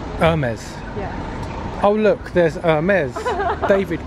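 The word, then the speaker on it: Hermès: this herm is ice to pronounce it right Irma's oh look there's amazed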